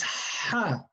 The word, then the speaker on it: ح: It's a clean sound coming from the throat.